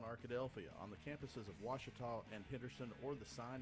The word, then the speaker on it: Ouachita: I've heard people say oh a cheetah oh Wichita oh a cheetah is it pronounced oh Akita soon for Washington Baptist University back in Texas everybody pronounces it Wichita but really it's Ouachita Washington how would you